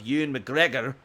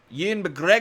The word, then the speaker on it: Ewan McGregor: But Ewan McGregor is coming back. You said it wrong. Ewan McGregor. No, Ewan.